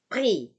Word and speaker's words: prix: Ya, X-nya tidak berbunyi, ya, karena dia di akhir, maka ini berbunyi pri, pri, pri.